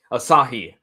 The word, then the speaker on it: Asahi: You have all of of the um uh cyber agent and and TV, how how's that pronounced? Asah. Asahi.